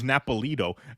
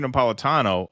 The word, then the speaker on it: Napolitano: Hey, see, the guy said it wrong. He was Judge Napolito. Caught your latest appearance on Judge Napolito. He was referring to Andrew Napolitano, a former Fox News